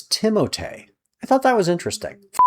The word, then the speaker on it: Timothée: Did you know everybody pronounces Timothée Chalamet's name wrong? It's Timothée.